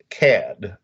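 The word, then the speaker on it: Kad: Now, the Emperor of Hatnor was Nornos Cad, K-A-D. Is that right? Right. The way I pronounced it.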